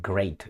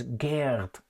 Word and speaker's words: Geert: Wilders, that I called Great Wilders, and some people did not catch that, but anyway. They kept pointing in their comments, it's not great, it's Geert.